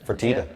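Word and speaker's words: Fertitta: Someone Freda is it? Fertita.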